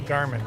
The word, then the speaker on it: Garmin: why is everybody confused you guys say Gman differently I say Garmin right that's how Garmin pronounces Garmin my confusion was a